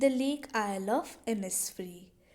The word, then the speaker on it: Innisfree: difficult लग रहा होगा इसको हम प्रोनाउंस करते हैं ए इनस फ्री ठीक है तो यह